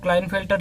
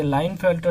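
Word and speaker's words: Klinefelter: उसमें आता है Turner syndrome and क्लाइनफेल्टर syndrome, ये हम लोग क्लाइनफेल्टर ही बोल के आया है पूरा जब मैं 11-12 में था। बाद में पता चला धीरे धीरे कि के होता है साइलेंट, तो ये लाइनफेल्टर सिंड्रोम, तो जो भी हो।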